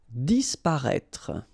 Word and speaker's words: disparaître: Disparaître, okay? So remember that we've got this accent circonflexe on the top of E, but then phonetically we don't pronounce it, so we get disparaître, disparaître.